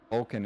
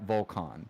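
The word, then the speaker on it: Volkan: for my first name because technically Oaken is not how you pronounce my first name we thought we had that one admittedly go ahead it's okay it's a Volcan technically okay yeah yeah but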